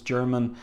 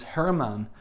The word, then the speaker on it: Germán: think, or maybe probably at the time I thought it was German, Garcia, but the artist is Spanish, just like Carlos Pacheco, Spanish. So it could be the pronunciation is Germán Garcia.